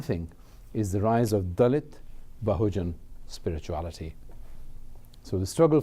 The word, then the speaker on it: Dalit: Dalit is this very simple word, D-A-L-I-T, and it comes from the word, actually it's not pronounced Dalit, it's pronounced Dalit, and Dal is what is crushed.